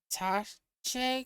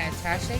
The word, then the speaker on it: attaché: Alright, so we're going to be having that word come up a lot, so I need to know how to pronounce it. Attaché. Attache. Attache. That's what we're going with.